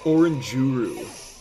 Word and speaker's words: Oranguru: of them yes oranguru oranguru hey abdllah it's pronounced oranguru I love it the Pokemon Community is so